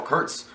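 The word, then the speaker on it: Kurtz: crazy named Colonel CTS uh rhymes with Herz and he's doing bad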